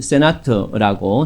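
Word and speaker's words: Sénat: 합니다 그 다음에 상원은요 일반 영어 용어처럼 세네트를 쓰는데요 프랑스 발음으로는 세나트라고 사용합니다 상원은 간접선거에 의해서 구성이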